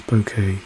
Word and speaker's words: Bokeh: um charts I'm using Panda's bokeh here or Boke depending on how you want to pronounce it uh to say hey